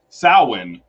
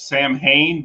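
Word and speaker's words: Samhain: so the origin is Sinn which uh many people pronounce Sam Hayne but that's not the proper pronunciation um and so it's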